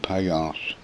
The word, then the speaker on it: Piyarz: Now it's spelled Piyarz, but he pronounces it Payas, and it's a very stupid name for a villain, in my own opinion.